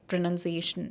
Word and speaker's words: pronunciation: is PA definitely so this is pronunciation it is not pronounced iation so next time when you're seeing you should say I'll get marks for pronunciation pronunciation okay and next we